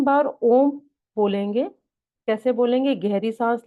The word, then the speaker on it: ओम: इसके बाद आप 3 बार ओम बोलेंगे। कैसे बोलेंगे? गहरी साँस लेंगे, साँस को होल्ड करेंगे और उसके बाद जब ब्रीथ आउट करेंगे तो अ, ओ, म को प्रोनाउंस करेंगे।